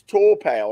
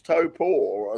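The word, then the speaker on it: Taupo: tour it's sort of it's sort of pronounced in the opposite to how it's spelled you look at it and you say oh it's just it's torow and it's like no it's top poor and so um it's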